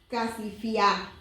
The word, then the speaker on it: Casifiá: en un lugar llamado Casifiá. En la Biblia NBT está acentuado en la A, por eso yo lo pronuncio así, no sé.